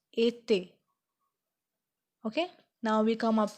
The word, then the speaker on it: été: It sound like A, so we pronounce it été.